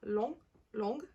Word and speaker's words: long: low goes to long notice that the masculine the G is silent and the terminology is pronounced long long blonde blush the C